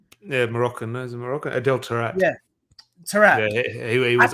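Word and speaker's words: Adel Taarabt: Tavat or something like that. Having a mind blank. Anyway, he was the winger for. Yeah, Moroccan. Is it Moroccan? Adel Tarat.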